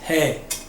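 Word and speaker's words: ה: deja la letra H Esta no es tan muda como la alef y la a tiene un pequeño sonido que es aspirado es he he de aquí nos vamos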